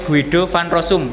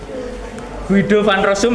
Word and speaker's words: Guido van Rossum: Kemudian bahasa ini diciptakan oleh Guido van Rossum pada tahun 1991.